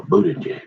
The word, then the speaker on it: Buttigieg: He's running a couple other things or something, but you better call that guy, you say that, yeah, remember, Buttigieg, that's how you say it.